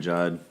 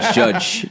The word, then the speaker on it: Judge: No, I mean, I could say like Aaron Judd. Yeah, Judge, not Judge. I said it wrong.